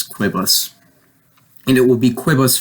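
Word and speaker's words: quibus: form for quote it it's not like quees it's quibbles and it will be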